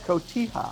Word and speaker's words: Cotija: Cotija. Thank you. I have a hard time pronouncing that, as you know.